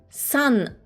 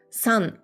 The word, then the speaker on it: 三: Donc le titre ici, je l'ai prononcé San.